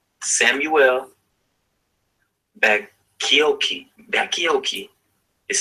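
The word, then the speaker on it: Bacchiocchi: A Seventh-day Adventist name, Samuel Bakioki. Bakioki is spelled Baccioccii.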